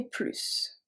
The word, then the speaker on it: plus: Let's start with plus when we pronounce the S, when it means more. It can be in the middle of the sentence or the end of the sentence.